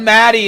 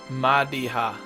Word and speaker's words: Madiha: Everyone pronounces it wrong. I almost just said Maddie and then I was like whoa whoa whoa whoa and just kept going. Let's go talk to Madiha.